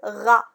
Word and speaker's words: rat: Le rat. Où est la lettre muette ici? C'est T.